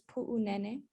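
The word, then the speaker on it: Puʻunene: before we get in the pronunciation of that airfield is puu nene so that that's show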